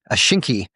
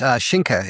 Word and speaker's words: Schinke: Schinke would be the North Americanized version of it, but it's Schinke in German.